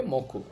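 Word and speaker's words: もく: আর এই কাঞ্জিটর উচ্চারণ হবে মে এবং উচ্চারণ হবে মকু। দুইটাই হতে পারে।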